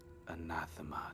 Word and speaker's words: anathema: Something anathema to the dark powers. Anathema. Nailed it. Yeah, that's Some people say anathema, and that's not correct.